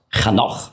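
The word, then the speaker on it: חנוך: Henoch, Chanoch auf Hebräisch ausgesprochen, heißt der Geweihte, der Hingegebene.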